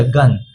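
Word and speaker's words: gun: अब आते हैं यहां दूसरे पे जी यू एन। क्या जी के बगल में आई ई या फिर वाई है? नहीं है। तो इसलिए इसे हम लोग ग ही पढ़ेंगे। तो ये क्या हो गया? गन।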